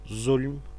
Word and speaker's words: zulüm: Zulüm bugün de yaşayan bir kelime zaten. Arapça haksızlık bizim zulüm şeklinde telaffuz edip kullandığımız kelime.